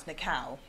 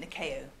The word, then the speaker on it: Nikao: and even those mentor you pronounce the cow I pronounce it nação okay my rule so